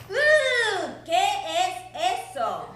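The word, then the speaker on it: qué es eso: And I ask them to read this, and this says K-S-S-O. And I tell them that if they pronounce it a little differently, they are now saying something in Spanish. Que-es-eso.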